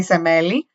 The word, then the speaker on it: Semele: I only know how to say it in Greek. I know what their English like pronunciation of her name is, but in Greek we say Semele.